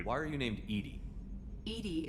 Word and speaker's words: EDI: are you named edie edie is the phonetic pronunciation of edi that is an acronym for enhanced defense intelligence okay where are you